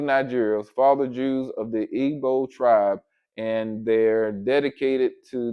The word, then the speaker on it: Igbo: It says the largest group of Nigerian Jews is made up of the members of the Igbo pronounced Ebo um tribe.